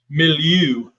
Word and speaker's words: milieu: it before right you got to say it with a fancy french pronunciation it's milieu yes we have to get